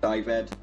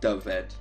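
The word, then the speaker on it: Dyfed: place for example is always called dived it's not divert it's dove ed why isn't earth in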